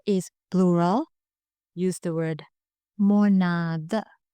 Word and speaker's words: මොනාද: But when the answer is plural, use the word monada. The original word is monavada, but we often pronounce this as monada.